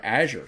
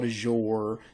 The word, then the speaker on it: Azure: first video I ever watched the guy was pronouncing it the word Azure so that's how I say it but what